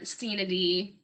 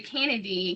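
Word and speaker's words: Caenidae: Right, like the mayfly beta D or Cenidae. Right. And some people say Canidae because it starts with a C, CA. But if you're not pronouncing the A, then that would be a soft C.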